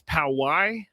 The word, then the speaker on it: Poway: I've been told that it's Poway. That's how you pronounce it.